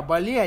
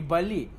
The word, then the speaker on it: Balli: Они мне сказали, что табак называется не Бали, а Бал. То есть, как бы с турецким произношением, как будто мед. То есть, бал, да, мед.